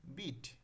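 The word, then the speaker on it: bit: এবং কি বিট আচ্ছা প্রথমে যখন আমরা উচ্চারণ করতেছি বিট বি আই টি বিট এখানে কি হস্ বয় হিসে আট বিট আচ্ছা দেখো এখানে হস্টা কি অল্প উচ্চারণ হচ্ছে এবং পরে দেখো বিট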